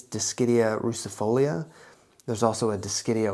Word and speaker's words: Dischidia: Let's talk about Dischidia. What's up, fellow plant enthusiasts? My name is and this is Bain's Botanicals. Today we're going to be talking about Dischidia.